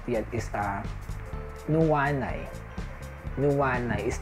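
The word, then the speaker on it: nuanay: Not yet is nuwanay.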